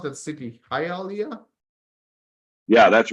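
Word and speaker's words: Hialeah: okay Joshua hit how is how do you pronounce that City ha Alia yeah that's right hiia okay let's look at haia Florida oh wow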